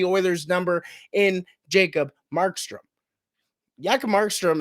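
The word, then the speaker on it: Jakob Markström: Jakob Markstrom, as they used to call him when he was first drafted, the J is silent, has been a fantastic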